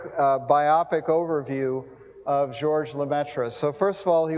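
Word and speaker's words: Lemaître: biopic overview of George lametra so first of all he was a Belgian uh his native language was French his last name is approximately pronounced lumet uh I'm not going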